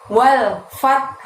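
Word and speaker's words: والفتح: Dan penutup ayat 1 ini ada lafaz wal fath. Nah, pada saat kalian membaca ujung ayat ini, walnya pendek, fathnya tak sukun di situ ditekan, lalu diikuti bunyi huruf ha dengan suara rendah ya. Wal fath gitu.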